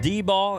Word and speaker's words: Dieball: I believe it's actually pronounced D-ball.